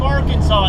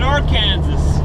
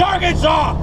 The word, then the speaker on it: Arkansas: did you know that in the state of Arkansas it is illegal to pronounce the state wrong you know this I guess they had too many people coming in here calling it our Kansas well that's the way you spelled it that's